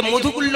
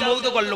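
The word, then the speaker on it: মৌদ্গল্য: বংশধর আপনার গোত্র মৌধুগল্ল্য মধু এই যে মধুগুল্য নয় কিন্তু উচ্চারণ মৌধুগল্ল্য ময়া দয়গায় হাসন্ন মৌধুগল্ল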